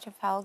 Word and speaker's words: Trafalgar: So being there the other day was just at Trafalgar Square. Did I say it right? Trafalgar.